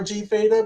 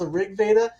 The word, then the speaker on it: RG Veda: People call it RG Veda, but I think it's pronounced Rig Veda.